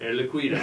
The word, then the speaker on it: Air Liquide: Air Liquide, get the French pronunciation, yeah. right? Air Liquide.